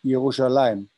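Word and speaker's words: ירושלים: johan taught me that uh jerusalem is is pronounced yerushalayim yeah all right so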